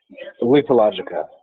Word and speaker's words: Lethologica: This is, pronounce it for me one more time before I butcher it. Lethologica.